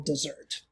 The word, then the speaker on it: desert: this equals no moral desert. And I don't actually mean desert like this, although it's pronounced like dessert and not desert.